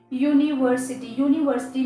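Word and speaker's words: university: तो देखिए यूनिवर्सिटी में हम यू को कैसे रीड करते हैं, एज अ यू, यूनिवर्सिटी, right, यूनिवर्सिटी. तो यहाँ पर यू साउंड आ रहा है, यहाँ पर यू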